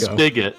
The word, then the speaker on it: spigot: And it's pronounced spigot. Hold on a second. You're telling me that like a water spigot is spelled S-P-I-G-O-T? It's spigot? Yes. It's not. There's no CK in it.